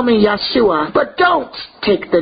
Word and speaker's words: Yahshua: there is what one masaq my name is Joshua call me Yahshua but don't take the name you're out and